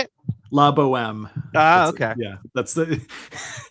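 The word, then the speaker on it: La Bohème: La Boheme.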